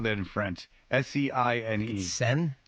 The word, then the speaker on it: Seine: Seine. Seine? Like the Seine River? Seine.